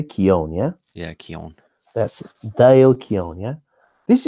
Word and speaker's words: Keown: I can never pronounce his last name. Keown. Keown. Yeah, that's how do you say Keown? Yeah. Yeah, Keown.